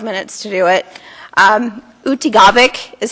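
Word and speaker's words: Utqiaġvik: Utigavik is how you say barrow now, just so you know.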